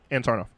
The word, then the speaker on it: Sarnoff: I pronounced it right? Sarnoff? Sarnoff? Yeah, Ann Sarnoff.